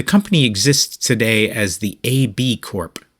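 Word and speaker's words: ABCorp: exists today as the ab Corp which is a little hard to read because they spell it ABC in caps followed by orp in lowercase my brain wants to say ABC Corp but nope anyway today the ab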